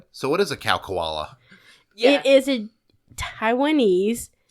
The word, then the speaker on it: Khao Kala: On the mountain CowKoala, Yes.